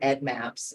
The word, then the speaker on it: EDDMapS: we love to hear Ed Maps um Ed Maps is something that happens a lot we're not too much a fan um and then there's no s in between Ed and Maps um so um consistency